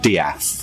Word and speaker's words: De'ath: The surname is spelled death, as it were, but it's pronounced Diath.